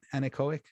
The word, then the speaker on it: anechoic: that the the the idea of the um anechoic is that how you say it anechoic yeah the anechoic chamber is that it blocks